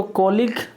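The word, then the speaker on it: colleague: तो कॉलिक तो बोला जाता है कॉलिक, बट इसको लिखा जाता है, इसका स्पेलिंग टफ होता है।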